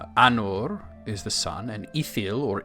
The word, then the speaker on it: Ithil: Minas is tower, and then Anor is the sun, and Ithil or Isil, they're sort of interchangeable, usually pronounced as Ithil, that's the moon.